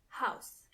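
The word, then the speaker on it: Haus: means th house D house when it comes to pronunciation it's the same as in English but you have to keep in mind how the word house is written h a u s kitchen is again d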